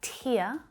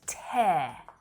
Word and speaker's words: tear: you know them already we have tear and tear tear tear tear tear tear tear can you hear the different vowel sounds that i'm using in